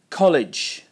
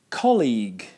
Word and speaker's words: colleague: like an apple I hear college instead of colleague college is another word completely other word by the